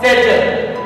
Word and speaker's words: satchel: It's called satchel.